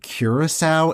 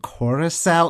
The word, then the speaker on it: Coração: Like, I keep catching myself saying Curaçao instead of Coração. Like, it's such a subtle difference, but it's like, no, those are two different things.